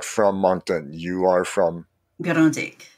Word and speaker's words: Grande Digue: You are from Grandig. Grandig. And how do you spell that?